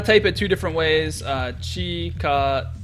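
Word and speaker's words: 近づく: Chikazuku is how you pronounce it. But then I also want to emphasize that it could be Chikazuku.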